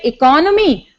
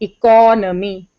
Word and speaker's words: economy: pronounced as economics but when you say economy then you stress on C economy and economics you don't